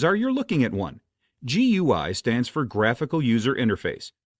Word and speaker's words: GUI: GUI stands for graphical user interface. A GUI, which some folks pronounce as gooey, is exactly what it sounds like.